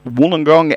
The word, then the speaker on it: Wollongong: Well, Graham Bond, Auntie Jackie, comes from a place called Wollongong in New South Wales, and that's where I am this morning. Wollongong, as we pronounce it, Wollongong as it is spelt.